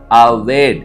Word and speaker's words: עָבַד: எபர எழுத்துக்களில் நான் உச்சரிக்கிறேன் ஆயின் பேத் டாலத் உயிரெழுத்துக்களோடு உச்சரிக்க வேண்டும் என்று சொன்னால் ஆயின் காமட்ஸ் பேத் பெற்றா டாலத் அவேட் என்று சொல்லி சொல்லுவார்கள் நன்றாய் கவனியுங்கள் இந்த வார்த்தை வழக்குச்